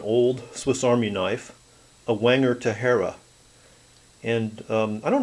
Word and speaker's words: Wenger: knives but Wanger or Wanger if you prefer the German pronunciation was one of the